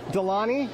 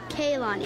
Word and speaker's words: Kaylani: Delani? No, Kaylani.